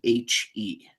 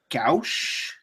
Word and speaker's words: gouache: No, I'm talking about the art style, which to me it looks like it says Gucci, but it's not. That's obviously not it. It's Gouache. Gouache.